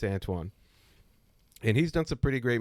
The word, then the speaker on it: Antoine: Antoine. Anthony. No, it's Antoine.